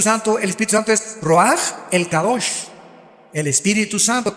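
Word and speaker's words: רוח: Se pronuncia roaj. Por ejemplo, cuando hablamos del Espíritu Santo, el Espíritu Santo es roaj, el cadosh, el Espíritu Santo.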